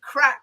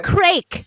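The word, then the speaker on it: craic: with mr we've nearly finished the show good crack uh is producer set we'll spell c-r-a-i-c so it's even spelt differently everyone yeah there you go craig is how i would pronounce it if i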